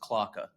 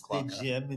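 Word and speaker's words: Klauke: is it Clouk or Clouky? It's pronounced Klocka. Clocka? It's pronounced Klocka. Waka. Yeah. German Germans. pronunciation of it is Klocka.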